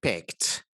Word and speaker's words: picked: peter piper peter piper picked so there's t here the e d here is pronounced as t picked picture pack picked